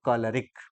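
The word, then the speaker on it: choleric: plus rice equal to इसका उच्चारण होता है कॉलरिक छोले राइस तो हम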